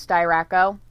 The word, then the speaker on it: Styracco: So it's not Sty, as in the sty with the S-T-Y. That's how his name is spelled.